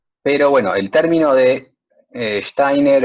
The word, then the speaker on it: Steiner: chiste ay pero bueno los alemanes son complicados steiner y se pronuncian como hay y por eso einstein es einstein y me está distrayendo